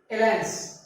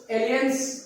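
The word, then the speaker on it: alliance: पहला लिखा हुआ है एलायंस। अब इसको जैसे अगर देखा जाए जैसा स्पेलिंग लिखा है इसके आधार पर तो एलियंस कहा जाए, लेकिन एलायंस पढ़ा था।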